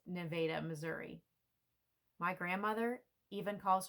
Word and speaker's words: Nevada: from Nevada Missouri and yes the town is pronounced Nevada Missouri my grandmother even calls her state Missouri